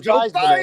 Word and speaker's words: Theismann: Nobody knows who the heck Joe Theismann is, but they know who Joe Theismann is. That's it, baby. Right? You got to change your name so it rhymes with Heisman.